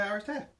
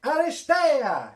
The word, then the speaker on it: Aristeia: And we're going to play Aristeia. You didn't say it right. Well, go on. You've got to go, Aristeia! Aristeia! It's got an exclamation mark at the end Yes, and everything.